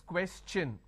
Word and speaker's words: question: is sure sound no when i have the word question the t i o n becomes cha no so it becomes question all right so please